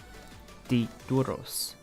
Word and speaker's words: títulos: Yeah, the flow is really there when you pause ever so slightly after the I.